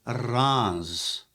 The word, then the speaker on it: Reims: is even though it's spelled reims the French pronounce it wrongs Okay so and guess how many bottles are